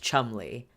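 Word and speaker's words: Cholmondeley: by the seventh Marquis of Chumley yes it's pronounced Chumley look at that spelling Chumley this is not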